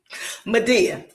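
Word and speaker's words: Medea: Media. It's spelled just like the Tyler Pur joy, but it's a mythology. Look at Greek mythology.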